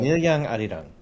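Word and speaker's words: 밀양 아리랑: Tell us about this Mil Yang, Air Yang. Am I pronouncing that right? It's kind of a traditional. Milyang Arirang.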